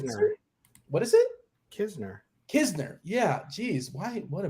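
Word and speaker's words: Knizner: It's not Kniezer. Is it Kisner? Nitzer? What is it? Kisner.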